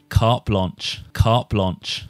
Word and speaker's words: carte blanche: of english so can we get an official pronunciation please reuben carp launch carp launch carp launch carp launch carp launch